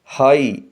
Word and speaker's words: high: بلند اڑ رہے ہیں۔ اس سینٹینس کے ورڈ ہائی میں ایک لیٹر G سائلنٹ ہے۔ اس کے اسپیلنگ ہیں HIGH، لیکن G کی ساؤنڈ نہیں آئے گی اور ہم اس کو پڑھیں گے ہائی۔ اگلا جملہ ہے: ٹرن